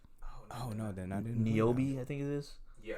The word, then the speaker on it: Niobe: Niobe, I think it is. Yeah, I don't know how to pronounce her name. Though. Niobe. It's Niobe and Ghost.